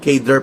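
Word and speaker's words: cadre: Yan po ang kadre na ibig sabihin kader pag i-pronounce sa English.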